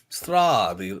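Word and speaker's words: Strahd: the vampire strad Vlad strad rhymes with Vlad it's another vampire okay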